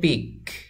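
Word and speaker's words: peak: উচ্চারণ হবে পিক পিক দুইটি উচ্চারণের মধ্যে পার্থক্য আছে তো এই পিক অর্থ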